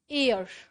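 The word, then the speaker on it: heir: हियर year और हियर इसमें H silent रहता है एयर ठीक है।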